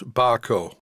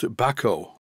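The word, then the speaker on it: Bahco: as b a h Co o which I pronounce bco but according to this view of from Sweden it is pronounced Bako here I'm going to use some lock Tity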